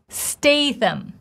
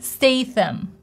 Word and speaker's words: Statham: If we look in the transcription, we clearly see sound in it. This TH sound. That is so unusual to many of you, that was unusual to myself, because this sound is non-existent in many languages. We push the air through our teeth, pulling the tongue forward, pushing.